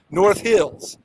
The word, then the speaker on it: North Hills: the emphasis so it's North Hills emphasis on the Hills just like emphasis on the York not like South Park